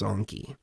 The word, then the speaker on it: Enki: DMT realm, he said he referred to himself as Anki, which was a different pronunciation. It's like Anki instead of Enki.